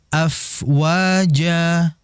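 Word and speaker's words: أفواجا: Jadi dibacanya wa ra'aitan nasa yadkhuluna fi dinillahi afwaja. Itu terlalu panjang. Tidak seperti itu. 2 harokat saja.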